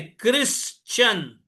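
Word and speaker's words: Christian: लेकिन जैसा उसका उच्चारण है क्रिश्चियन। सी एच आर आई। यहां पर सी बोले तो क के जैसा उसका प्रोनाउंसिएशन है।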